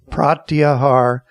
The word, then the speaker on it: pratyahar: It's called pratyahar. Prat lines with Carlot. The second one is ya, just like I'm with you. And the last one is har, and it rhymes with car.